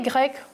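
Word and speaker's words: grecque: Faites attention parce que la prononciation ne change pas. On a grec, le masculin, et grec aussi, le féminin.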